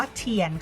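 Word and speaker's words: 天: นะ คะ แล้ว ก็ จริง ๆ คำ นี้ อ่าน ว่า เทียน ค่ะ แต่ ว่า ท้อง ฟ้า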